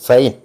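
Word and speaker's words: sein: ഐ N mine എന്നാണ് അതുപോലെ സി ഐ എൻ സൈൻ എന്നാണ് ഉച്ചരിക്കുന്നത് എന്റെ അവന്റെ എന്നൊക്കെ ഉള്ളതിന് ആ ഉച്ചാരണം വരും ഫോർ the letters E I combined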